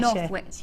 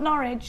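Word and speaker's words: Northwich: is from Sarah in North witch or is that how you say it in ches North witch yeah North witch not norch no I know how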